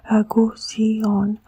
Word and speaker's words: Gusion: We say, well, the name is Gusion, 3 syllables, number 6, 2, 3, 6, no?